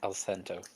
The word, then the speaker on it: Alcento: Selena Alcento? ALLCE. CENTO. Mm-hmm. Like cento, like cien, like 100.